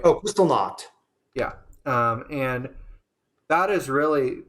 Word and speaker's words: Kristallnacht: Oh, Kristallnacht.